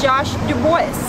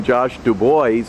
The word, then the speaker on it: DuBois: to pronounce his name josh du bois because that's what it looks like and we have dubois pennsylvania but he actually pronounces it the more correct french josh dubois you're good